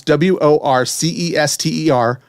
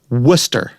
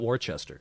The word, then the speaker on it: Worcester: in massachusetts they pronounce w-o-r-c-e-s-t-e-r worcester right it's not warchester right worcester and we